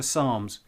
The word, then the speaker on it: psalms: and just search for psalms it's got a silent p on the beginning so it's actually spelt p s a l m s if you live on